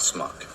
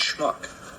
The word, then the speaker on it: schmuck: Schmuck I was. Schmuck. It's not smuck, it's schmuck. Smuck. Schmuck. Smuck. Say shh. Shh. Now say muck. Muck. Now say shh and muck together real fast.